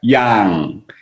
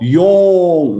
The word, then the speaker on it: Yong: Yang, and then your mouth need to be more open. Yang, and then my name is Yong, Doctor Yong. Mouth come out. Then correct pronunciation.